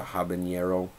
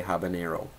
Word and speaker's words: habanero: that's not phonetically correct it's named after Habana or Havana Cuba it's not hav or Hab it's Habana so I do not say habanero I say habanero ranting is done um